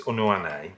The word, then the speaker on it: Unuane: It's Unuane. Oh, in the ECHR, yes. It's the ECHR one. I may be totally wrong. I'm just giving every vowel its worth. It's full weight, yeah.